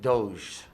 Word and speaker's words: Doge: So if somebody had 100 Doge, is that how you say it? Yes. Is that correct? That is the correct pronunciation?